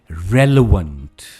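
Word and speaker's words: relevant: Next word, कोई चीज जो बहुत जरूरी है या जिसका महत्व है, रेलेवेंट। इट्स रेलेवेंट, stress is ऑन रे, रेलेवेंट।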